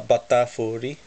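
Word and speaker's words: バタフリー: And our second rare is a Batafuri. I love saying this name, especially the first syllable. Bata. It's like saying butter, but how the Japanese would say it.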